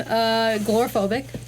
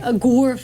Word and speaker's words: agoraphobic: I've become gloraphobic. I don't want to leave the There's no apartment. L in that word. There isn't. How do you say Agor. it? Agor. How do you say it? Agoraphobic.